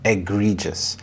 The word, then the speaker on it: egregious: Egregious, egregious. The stress is on the second syllable, egregious.